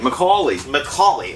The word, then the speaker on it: McAulay: That's how you pronounce his name? McAulay.